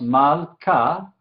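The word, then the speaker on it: מַלְכָּה: Entonces, aquí en este ejemplo, tenemos mal-ka. Vemos aquí que tenemos Shewa silencioso, ¿sí? Porque viene al final de una sílaba cerrada.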